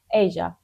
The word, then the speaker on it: Aja: It says Asia in this one, but I checked the pronunciation. I was okay. Anyway, Asia.